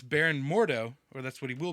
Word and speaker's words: Mordo: but it's cilus uhhuh is the name uh mordo I kept saying moru I think did you yeah it's the problem